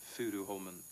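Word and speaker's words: Furuholmen: We pronounce it in Norwegian, Fudu Holmen.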